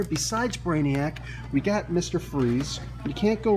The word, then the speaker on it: Fries: freeze you can't go wrong with Victor freeze although it's spelled fries I've spoken what is